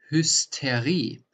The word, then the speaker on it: Hysterie: So first, if the ST is at the beginning of a word or if the ST is in the middle of a word, that's different in the pronunciation. For example, der Stahl, the steel, der Stahl. Or here, if it's in the middle of the word, like hysteria, which is a Greek original word, the Hysterie.